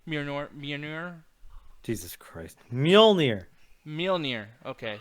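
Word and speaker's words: Mjölnir: Apparently, they made a big change to Thor, where and I don't know how to pronounce the name, but the hammer. What's the hammer's name? Mjolnir. Mjolnir.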